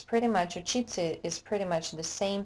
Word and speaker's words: учиться: When we have te, se, ya, it's pronounced as ца. Учиться, учатся.